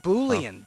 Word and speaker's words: boolean: It's pronounced boolean, Dennis.